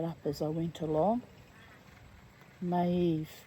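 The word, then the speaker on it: Maeve: Maave. Maave, it's pronounced a warrior of the Hiburnians and Valarius dreamer and warrior.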